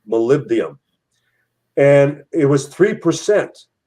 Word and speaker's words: molybdenum: except for the molybdenum the molybdenum i pronounced it raw in the first time molybdenum and it was three